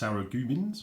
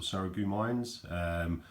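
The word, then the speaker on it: Sarreguemines: I've also got this quite nice, pronounced Saragumins or Saragumines, porcelain oversized teacup.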